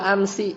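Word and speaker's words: أمس: Kemudian wa amsi. Amsi apa artinya? Kemarin. Bacanya bil kasrah, fi luzumil kasri. Tapi di mana ini? Fi lughatil hijaziyin, di menurut dialeknya orang-orang Hijaz.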